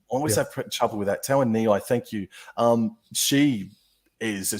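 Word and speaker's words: Tauaneai: mention her before, and I always have trouble pronouncing her name. Your lock, it's Alexis Tawanei. I always have trouble with that. Tawanei, thank you.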